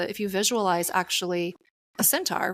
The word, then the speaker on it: centaur: First of all, I didn't know that the Sagittarius, the symbol for Sagittarius, was the centauron. Am I saying that right? CEN. Can you pronounce centaur. it again? Centaur, yeah.